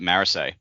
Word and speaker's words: Marasi: Marisi when I believe the correct pronunciation is Morassi or something like that. And Dak, you've listened to some of the audio book. Maybe you know. Uh, no, the audiobook pronounces it Marisay.